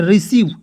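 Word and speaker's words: receive: देखिए ई आई आया सी के तुरंत बाद ई आ आया तो इसका उच्चारण जो है बड़ी ई के रूप में करेंगे तो आर ई से री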